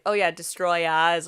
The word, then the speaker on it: Destoroyah: It's Destroyer. You have to you have to pronounce the ah at the end. And so on December 9th, 1995, Godzilla versus Destroya is released.